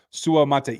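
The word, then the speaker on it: Suamataia: I know everybody gave me crap all offseason Su Mata is the way that you pronounced that he said it himself in the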